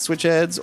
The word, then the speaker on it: Switch Headz: We pronounce the Z. It's a hard Z.